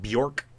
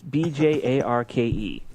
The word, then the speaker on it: Bjarke: Are you sure it's not Bjork? It's Bjarke. They're from Copenhagen.